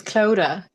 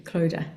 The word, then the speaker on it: Clodagh: It's okay, it's Clodagh. The G and the H are silent, yeah. I thought so, thank you, Clodagh.